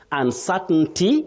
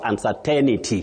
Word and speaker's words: uncertainty: No, you say uncertainty or uncertainty, but not uncertainity. That one we should avoid it in standard English.